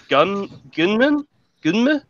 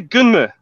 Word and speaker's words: Gunnm: Gunman? What's a gunman? I spell it Gunnm. What is this? Nani? Say it again. Nani? Gunnm.